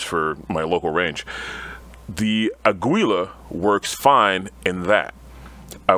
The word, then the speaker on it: Aguila: Aguila? Is that how you say it? Aguila.